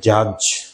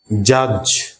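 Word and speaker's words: judge: আমরা এটাকে উচ্চারণ করব জাজ, জাজ। তাহলে এই ডিজি যদি মাঝখানে থাকে সেখান থেকে কিন্তু আমাদেরকে ডিটাকে সাইলেন্ট করতে হবে। যেমন হচ্ছে জাজ, ডির উচ্চারণ কিন্তু আসলো না এখানে।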